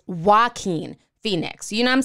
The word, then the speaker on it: Joaquin Phoenix: name for me so now I know it's not jock queen Phoenix it's Joaquin Phoenix you know I'm saying